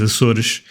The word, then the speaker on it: Azores: The correct pronunciation is Azores, but let's go with Azores.